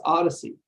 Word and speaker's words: OHDSI: sciences and informatics Community ohdsi which we pronounce as Odyssey odyssey's mission is to